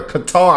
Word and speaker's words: Qatar: They were saying cutter. Qatar. I knew I was saying it right. They saying cutter, cutter, cutter. Where they get cutter from?